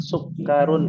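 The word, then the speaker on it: سكر: Ya, perhatikan ummahat, sukkarun itu pendek bacanya.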